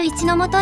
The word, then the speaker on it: 櫟本: ります JR 一ノ本駅です。へえ、一ノ本駅って読むんだ。